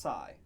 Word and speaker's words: psi: Uh also known as PSI, which is pronounced Sai, like the uh guy from South Korea with Gangnam Sy or Psychology.